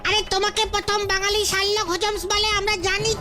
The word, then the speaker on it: শার্লক হোমস: তাহলে বলতো কাকে প্রথম বাঙালি শাকলক হজমস বলে? শাকলক হজমস? বাঙালি শাকলক লোক? বুঝেছি বুঝেছি, তুমি শার্লক হোমসের কথা বলছো, ওই সেই বিখ্যাত গোয়েন্দা। মানে হ্যাঁ, আমি বাঙালি উচ্চারণে বলেছি।